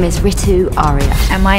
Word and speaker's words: Ritu: It's pronounced Ritu. Well, that's how my parents would pronounce it. A lot of people say Ritu, and that's wrong.